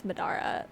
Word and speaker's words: Madara: It's Madara.